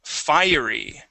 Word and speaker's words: fiery: Jonathan Jonathan great okay uh let's go to fiery okay here you had read that is Fury okay which is spelled just a little different uh fiery is